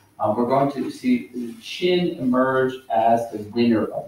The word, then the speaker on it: Qin: one known as the Qin. And in fact, it's a Q, but you pronounce it as C-H.